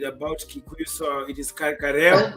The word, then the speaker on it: Kariu: Kikuyu, so it is Kareo, right? Kareo. Yeah. Kareo. Yeah. So it's the Kariu. It would be, I guess the I would be sort of pronounced as E, but any is fine actually.